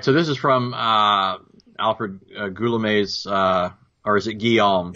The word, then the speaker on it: Guillaume: So this is from Alfred Goulamez's or is it Guillaume? It's Guillaume. Go with the French. Guillaume. It's spelled Guillaume, but yeah, Yeah. The French are ridiculous and pronounce things in weird ways.